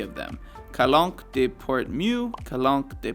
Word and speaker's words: calanque: And yes, I'm sure that's how you pronounce it. Calanque.